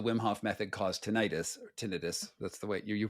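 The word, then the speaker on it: tinnitus: mean does the Wim Hoff method cause tenius tinitus that's the way you pronounced it correctly yeah and absolutely um there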